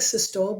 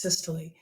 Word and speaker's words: systole: word is systole I know it looks like systole but it's pronounced systole systole is contraction of a chamber of the